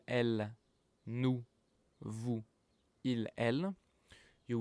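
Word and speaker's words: elles: Il, elle, pronounced the same as il, elle here, but now there's a s at the end, which means that it's plural, it's for a group, so it's they, okay?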